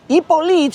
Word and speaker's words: Hippolyte: And that is how the French Ipolite, which looks like Hippolyte if you spell it in American, that is how Ipolite Bouchard ends up joining the Argentinian navy.